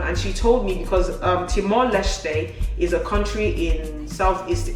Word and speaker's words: Timor-Leste: The first time I saw this, I was like, Timor-Leste. But according to Google, it's Timor-Leste.